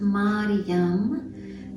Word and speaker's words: Mariam: And now we're going to bring the hands on our womb space, and we're going to chant Mariam.